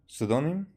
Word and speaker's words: pseudonym: She could have just given you a pseudonym. Sudonim. That's how it's pronounced.